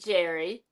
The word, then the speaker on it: Jere: You pronounce it Jerry.